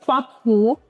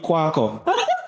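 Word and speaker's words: Kwaku: Best quack who, but give him quatty. I don't think that's there. Beat quack who, but give him quatty. All right, so Did I say it right? no, beat Kwako.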